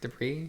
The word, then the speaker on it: debris: sight behind the debris the bris does that what was that word debris debris why is there an ass it's just the way it's spelled what the [ __